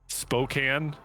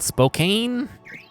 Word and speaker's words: Spokane: It's actually pronounced Worcester, yeah. Fucked. I know, it's dumb. Spokane, Washington. The old Spokane. Spokane.